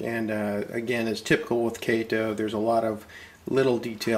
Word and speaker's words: Kato: I've pronounced it Kato for years, I think, like a lot of folks, but apparently the appropriate and correct pronunciation is Kato.